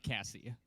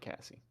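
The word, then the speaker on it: Cassey: by the way Cassie was it if you will is it Cassidy as your last name uh Cassie okay okay you got it right kse it's like Casey but Cassie yeah so c-a-s-s-e-y I'm gonna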